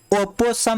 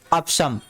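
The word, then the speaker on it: opossum: ओपोसम नहीं है, इसको पढ़ते हैं ऑप्शम।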